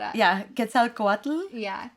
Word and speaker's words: Quetzalcoatl: Quetzalcoatl. Yeah. Quetzalcoatl. Quetzalcoatl This one, too. Uh let's see. Quia Quia Quia Quatl? Yeah, that's the second one. and Quetzalcoatl.